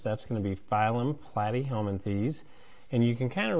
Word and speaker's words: Platyhelminthes: with the flatworms that's going to be phylum platyhelminthes and you can kind of remember that plait rhymes with flat so some of the key